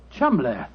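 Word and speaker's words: Cholmondeley: know that the name Cham is in no way pronounced the way it is spelled but Jo I never thought of that Cham that name spelled c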